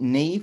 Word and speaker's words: Niamh: Because it's spelt very differently in England to how it's pronounced, isn't it?